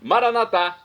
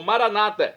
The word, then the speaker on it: Maranata: clamar o seu nome maranat como dizemos nós católicos ou Maranata como dizem nossos irmãos separados os evangélicos ou protestantes não importa pronúncia